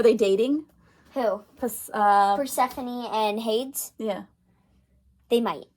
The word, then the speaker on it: Persephone: i know i know it looks like it says purse phone but it but we searched up how to pronounce it and it's persephone and who is persephone this